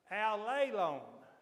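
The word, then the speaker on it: ἀλλήλων: me to say because all of my adult life I have mispronounced that Greek word. But I found out what I believe is the right way to say it, and I'm going to try to say it right now.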